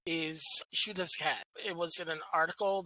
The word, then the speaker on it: Xiuhtezcatl: The pronunciation is Xiuhtezcatl.